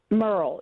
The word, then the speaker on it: Murrill: I just want to be C are we pronouncing your name is it Merl Merl yes just wanted to make sure because you're